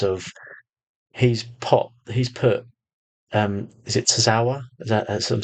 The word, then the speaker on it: Tozawa: I mean, the way that the way he's actually messed about with Alpha Academy in the sense of he's put is it Tozawa?